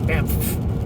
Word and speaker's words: Banff: And yes, that is how you pronounce it. I spent years with that, Banff, because it has two F's at the back.